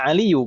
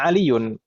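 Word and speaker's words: عليُّ: Ya Aliyu, bukan ya Aliyun. Kita salah baca tidak? Enggak Ustaz, Tidak. Aliyu. Tidak. Tidak ya. Nada. Karena sebagai al-munada. Al-munada kalau satu kata seperti ini maka dia mabniyun 'ala dhamm. Dia harus dhammah, tidak boleh tanwin.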